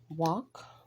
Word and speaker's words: walk: with the K being silent could the L is silent here walk the L is silent and the word by